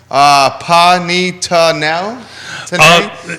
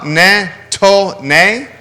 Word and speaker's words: panettone: Panitano? Okay, he actually phonetically... Who's this, from Nick? Yeah. Panettone?